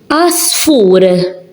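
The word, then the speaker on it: għasfur: Asfur, asfur. Only these you're hearing, the ein, you're not hearing it. So, in the beginning of a word, where there is an ein, it's silent. You don't pronounce it.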